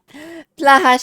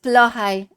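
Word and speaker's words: Blåhaj: Blaha sharks. It's actually pronounced Blohai. Apparently.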